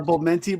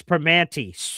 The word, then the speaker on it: Primanti: The Pomenti brothers. It's Primanti. Pronounce it, German boy.